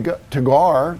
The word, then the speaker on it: Teguar: And like I promised in my last video, we're going to dig deeper into this uh to Tagar. That's how you pronounce it.